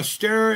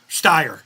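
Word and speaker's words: Steyr: Uh, stare in the 44 special bulldog. Right on. Yep. Styer. It's pronounced styr, right? Even though it's an E.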